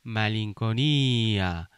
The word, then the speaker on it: malinconia: 그리고 이 단어의 강세는 E에 있습니다. 그래서 이 단어는 어떻게 읽냐면 말링코니아 이렇게 강세를 주시면 될 것 같아요.